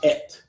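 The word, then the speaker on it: עת: By the way, time in Hebrew is ayin tav. Y el tiempo en hebreo es Ayin Tav. Ayin tav. Ayin Tav. It's pronounced et.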